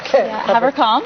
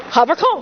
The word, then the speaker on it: Haverkamp: And it's pronounced German like? Haverkamp. Haverkamp.